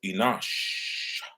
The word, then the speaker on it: Enosh: seth uh brought forth enosh and the reason why i have to pronounce it that way because sometimes people think enosh and enoch are the same but they're not um remember that when